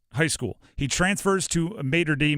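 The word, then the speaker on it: Mater Dei: school he transfers to Mater D Moder day I don't know how to pronounce it's mod day uh it is one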